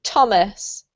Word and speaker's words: Thomas: And this one, Jose, is not th, but actually a T sound, so it's a bit tricky. Thomas.